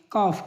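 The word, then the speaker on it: calf: डी एफ के एम इन चार वर्डों के पहले अगर ए आ एल आए तो एल साइलेंट होता है शुड शुड माने चाहिए कफ कफ माने बछड़ा फॉक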